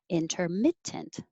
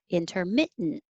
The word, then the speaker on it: intermittent: You can say with the T perfectly, intermittent, or without the T in the middle, intermittent. So I'm holding my tongue in the T position when I say intermit, and instead of saying tent, I'm saying just make the noise. Intermittent, intermittent, or intermittent. Both are fine.